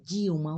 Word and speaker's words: Dilma: vimos a Dilma ó Dilma o l diante de uma consoante eu som de uma u na festa mas que